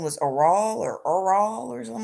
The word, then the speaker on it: Errol: Woody Allen, uh I don't his name was Errol or something like that. Errol Musk. I can't pronounce it right. I know it's Errol. Um Errol? I kept calling him Earl. I know his name wasn't Earl, but I kept calling him Earl.